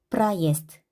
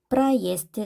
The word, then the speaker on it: проезд: 프라이에스트 같은 경우는 대가 유성음이잖아요. 단어 끝에 유성음이 오면 그 짝꿍인 무성음으로 읽는다고 했어요. 그래서 때가 되다 보니까 때가 무성음인데 그 앞에 있는 ze는 유성음이에요. 그래서 그 ze의 짝꿍인 s로 발음을 하게 되는 겁니다. 그러면 무성음이 되겠죠? 프라이에스트, 프라이에스트.